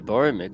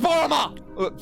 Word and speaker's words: Boromar: You're effectively Well- saying no to the Boromir clan when you gave away our It's goods. pronounced Boromar! Sorry.